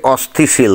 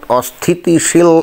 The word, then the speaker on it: অস্থিতিশীল: দেখেন যে সে কিন্তু বলল যে দেশকে অস্থিশীল তাই না অস্থিশীল বুঝলেন তো অর্থাৎ অস্থিতিশীল এই শব্দটা সে সঠিক ভাবে উচ্চারণ করতে পারছে না আর কথাবার্তা গুলো কেমন